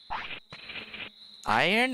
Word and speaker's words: iron: Iron? I've been pronouncing the R more like a Y. Iron. Yeah. I guess for us, the R actually comes between the O and the N, if that makes sense.